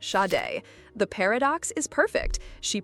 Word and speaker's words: Sade: Yes, it's pronounced shade.